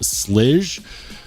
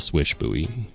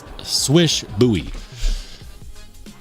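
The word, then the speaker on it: Slysz Bowie: It's pronounced like swish swish, like you know when you're good at shooting basketballs. So that's why I call it the swish buoy instead of the slge.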